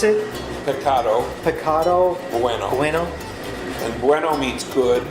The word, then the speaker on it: Pecado Bueno: so we're here uh and how do you pronounce it picado picado bueno pueno and bueno means good yeah and and